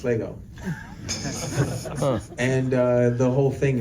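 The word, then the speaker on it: L'Ego: do the apostrophe so it's l apostrophe ego and it's pronounced Lego and uh the whole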